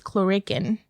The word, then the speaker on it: Clurichaun: Also sporting red is a rambitious chlorican.